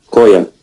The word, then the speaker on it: choir: We don't pronounce R. Koya.